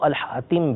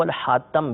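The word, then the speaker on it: الخاتم: کے نیچے زیر، اور اس کو الحاتم بھی پڑھا گیا ہے یعنی تا کے اوپر زبر. یہ دونوں اس کے تلفظ ہیں، دونوں پڑھے گئے ہیں الحاتم اور الحاتم، یہ بھی نبی کریم صلی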